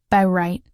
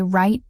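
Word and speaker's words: write: Today we don't say by right or double wrist. We just say right and wrist.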